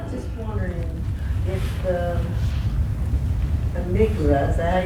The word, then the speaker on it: amygdala: Well, I was just wondering if the amygdala, is that how you say it? Yeah, the amygdala.